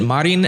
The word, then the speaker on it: Marin: ruthless in the comments I'm gonna pronounce it Marin and mommy and whoever has an